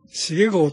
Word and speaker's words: 重豪: 、はい、秀っていうのがすごく難しいね。豪傑の豪。茂豪と読む場合もあるけどね。